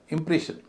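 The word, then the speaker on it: impression: emotion इसी तरह इंप्रेशन शन से पहले इ है वो भारी है उससे पहले जो आई है वो हल्का है इंप्रेशन तो तीन सिलेबल वाले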